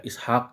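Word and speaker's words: إسحاق: penulisan Luqman dan Ishaq di sini awalnya dalam imlai itu dia ada alifnya tetapi dalam penulisan dalam penulisannya ia menjadi dihilangkan alifnya tapi tetap dibaca panjang juga Ishaq juga Lukman juga dibacanya nah ini ada syaratnya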